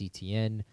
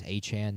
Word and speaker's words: Etienne: He has more guaranteed money than Kenneth Walker, more guaranteed money than Travis Etienne, or Travis Achan now, which is how you say his name.